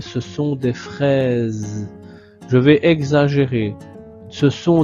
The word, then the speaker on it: fraises: Ici, la petite remarque, c'est que le S de fraise, le S se trouve entre deux voyelles, la lettre I et la lettre E. Quand le S est entre deux voyelles au milieu d'un mot, le S se prononce aussi comme la lettre Z. Donc comme le son de Z, comme dans les oranges.